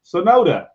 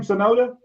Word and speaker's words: Sonoda: that one right there Professor Sonata sonoda is that how you say his name sonoda yep he didn't Russell for a